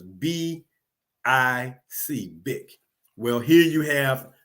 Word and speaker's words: Bich: BICH is pronounced BIC.